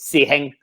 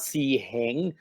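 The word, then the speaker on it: 師兄: say it in Chinese wait see hang it's two high-level tones it's not a C hang C hang C hang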